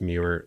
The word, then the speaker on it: Muir: Robert Eggers comes to mind with that because he's used, I think her last name is pronounced Muir, Linda Muir, for like all of his costume design work.